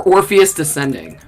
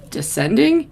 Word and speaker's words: Orpheus Descending: tennessee williams play and i always say it wrong it's either orpheus rising or orpheus descending orpheus descending descending they have two shows